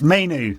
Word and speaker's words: Mainoo: You and I talked about this pre-pod about how I'm supposed to pronounce his name. It's Mainoo.